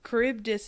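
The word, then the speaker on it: Charybdis: And I um kuribdus is how it was pronounced.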